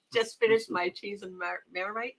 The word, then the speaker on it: Marmite: Just finished my cheese and Marmite. Did I say it right? Yeah. Crackers. Marmite, yes. Good.